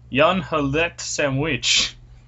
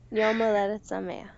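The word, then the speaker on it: יום הולדת שמח: Yon halet sandwich.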